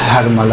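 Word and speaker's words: حرملہ: یقینی طور پہ ہرملہ۔ دیکھیں اصل تلفظ ہرملہ ہے، جسے ہم لوگ اپنی زبان میں ہرملہ کہتے ہیں، صحیح؟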